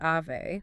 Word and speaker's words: Ave: And just to clarify for everyone listening, that brand is pronounced Ave, like the Latin in Ave Maria, not Avenue.